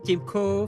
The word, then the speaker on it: Timko: C'est comme ça qu'on prononce Timko, Timko.